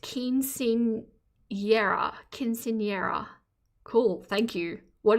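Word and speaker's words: Quinceañera: It's pronounced Quinceanera.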